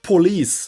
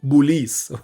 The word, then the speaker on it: البوليس: But we don't say it like in English police, but you say it police. Okay? So as if the B is not the P is B.